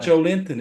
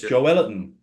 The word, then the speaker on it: Joelinton: Joe Alfie, can you go and find the correct pronunciation for Joe Linton, please? It's not Joe Linton, it's Joe Ellerton.